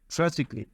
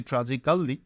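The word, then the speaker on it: tragically: পর্যন্ত যেতে হবে সো ট্রাজিকলি যদিও শব্দটি ট্রাজিকালি কিন্তু উচ্চারণ করবে ট্রাজিকলি সি থাকলে এ ডাবল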